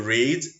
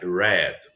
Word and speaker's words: read: verb to read because the past tense of this verb you write the same but the pronunciation is different so to read I read so let's get it